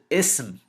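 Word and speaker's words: اسم: Ism with a sin, ism, means name.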